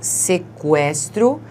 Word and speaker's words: sequestro: Então, antes nós dizíamos sequestro e porque esse U é pronunciado, né? Nós não falamos sequestro, nós dizemos sequestro, nós colocávamos o trema, certo? Muito bem. Agora, nós continuamos a falar sequestro, mas a gente não indica mais o som do U com o trema.